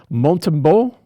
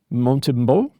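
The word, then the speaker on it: Montembeault: this one guy, Sam Montbo, Montimbo, Sam Montbo. I think that's going to be right. Uh in French, you tend not to pronounce consonants unless they're followed by a vowel.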